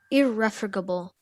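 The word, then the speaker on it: irrefragable: capable of you're on the right track okay irreformable um may i have the part of speech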